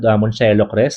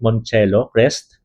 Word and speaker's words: Moncello Crest: So uh again this project is called Monelo Crest. So that's how you pronounce it. Monelo Crest DMCA homesure residences.